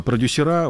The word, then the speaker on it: продюсера: сочетать очень сложно а продюсера в этом слове именно так надо произносить занимающиеся нашей эстрадой в этом слове буквы т нет вот этой вот попти